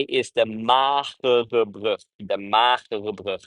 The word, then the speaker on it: Magere Brug: I know it's hard to pronounce that if you're not from over here. Maybe if you're, there are not a lot of people in the world that have the same hard G as we have, really the hard G.